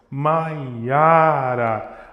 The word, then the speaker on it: Mayara: Isso serve para outros nomes, tipo assim, é maiara. São três notas. Mayara. O acentuação, a sílaba forte está no meio, Mayara.